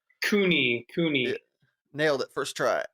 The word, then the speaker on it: Cooney: COONEY is the pronunciation? COONEY.